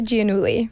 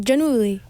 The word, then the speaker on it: Giannulli: Okay, it's Olivia Giannulli. Oh, Giannulli. Yeah, it's Italian. Ooh. But I think I even pronounce it wrong. I think it's supposed to be like Giannulli.